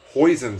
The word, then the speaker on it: hoisin: 1.5 tablespoons of hoisin sauce. Rhymes with poison, but it's basically Asian barbecue sauce.